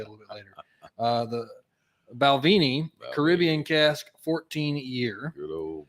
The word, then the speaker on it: Balvenie: the Balvenie. Come on, Babeline. There is actually a reason I keep mispronouncing that, and I'll tell you a little bit later. The Balvenie Caribbean cask 14-year.